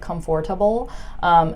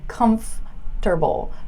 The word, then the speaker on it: comfortable: with this word is you guys tend to separate it and create syllables that are non-existent and you might say something like comfortable nobody says that so don't say comfortable okay just say comfortable comfortable are you comfortable